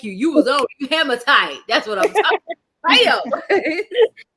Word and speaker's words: hematite: I'm gonna try to say it him it's h-e-m-a-t-i-t-e him I don't know hematite there we go